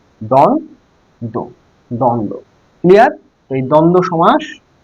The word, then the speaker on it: দ্বন্দ্ব: বহুবৃহ আচ্ছা এটা মিছায়ে দেই দ্বন্দ বানানটা দেখো প্রথমে দয় বয় এখানে দন্ত নয় দয়